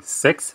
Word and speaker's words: CEX: veut dire échange centralisé donc c'est sexe désolé c'est comme ça que ça se prononce ce sont des échanges